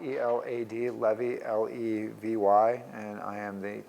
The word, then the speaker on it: Levy: Elad, E-L-A-D, Levy, L-E-V-Y, and I am the chair of UB Neurosurgery.